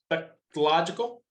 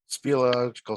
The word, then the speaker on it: speleological: The date eventually became his wife and introduced him into his 23-year-long professional land surveying career and the National, how do you say that? Spectrological? Speleological Society.